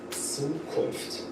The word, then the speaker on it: Zukunft: And the character Z is also pronounced in a very special way. It sounds like TS, Zukunft, Zukunft.